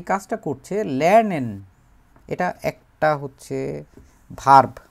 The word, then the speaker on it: Lernen: শেখা টু লার্ন লারনেন লারনেন লারনেন উচ্চারণ হচ্ছে লারনেন লারনেন মানে হচ্ছে শেখা কোন কিছু শেখা এবং